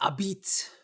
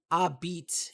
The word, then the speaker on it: Abiit: But the Mandalorian word of the day is abit. Abit. It's spelled Abiit, and basically it just means air.